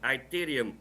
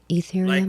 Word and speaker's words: Ethereum: times is also sending iterium out to this wallet and this wallet is sending it back to the 0xc 44. somebody tell them it's pronounced ethereum what you said this